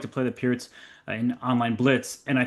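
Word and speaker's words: Pirc: It's called Perk Alert in Mm-hmm. America because they can't pronounce names correctly, but Peart's Alert, I guess, would be technically correct.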